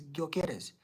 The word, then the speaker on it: Gyökeres: I think the way you pronounce it is Gyökeres, the guy playing for Sporting Lisbon.